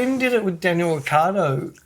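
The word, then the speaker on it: Ricciardo: Well, if you hear him say his name, it's Ricardo. Yeah. No, but there's just like there's oneird of the It might even be less than that. They call him Rickyardo.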